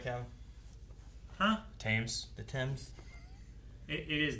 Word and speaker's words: Thames: Thames. The Thames. It is the Thames. The fucking Thames. Fucking Thames is flooding. It's spelled Thames, which confused Maggie to no end.